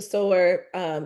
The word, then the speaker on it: Sower: Parables of the Sour. Parables of the Sower.